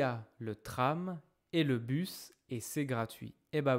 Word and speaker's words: bus: Careful. This is not boost. We talked about this in the past. Really take a moment to make sure you are not pronouncing this ou this is not boos. We have talked in detail how to make the sound u. U u us U us. Bus bus. Ok. Pas bous. Bus.